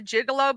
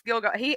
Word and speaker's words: Gilgo: Um I called it the Gigolo Beach for some reason, and then I was like, oh, it's Gilgo.